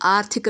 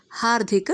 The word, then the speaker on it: ಹಾರ್ದಿಕ: ನೀವು ಆರ್ಥಿಕ ಶುಭಾಶಯಗಳು ಅಂದರೆ ತಪ್ಪು, ಹಾರ್ದಿಕ ಶುಭಾಶಯಗಳು ಅಂದರೂ ತಪ್ಪು, ಹಾರ್ದಿಕ ಶುಭಾಶಯಗಳು ಅಂದರೂ ಕೂಡ ತಪ್ಪು. ಸರಿಯಾದ ಕ್ರಮ ಹಾರ್ದಿಕ ಶುಭಾಶಯಗಳು.